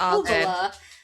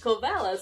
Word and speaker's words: Kovala: Cuz you say "Kovala" and I called it "Kovela".